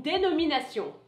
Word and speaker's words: dénomination: You might have noticed that's the same word in English, denomination, but the pronunciation is different.